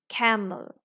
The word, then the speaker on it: camel: If you have a sound at the end of words, the vowels before the letter L is a schwa, most likely. For example, the word camel, camel. We are saying a sound, so this E is a schwa.